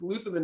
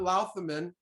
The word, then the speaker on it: Louthaman: and she told me it's lutheran not laughter men so she's a good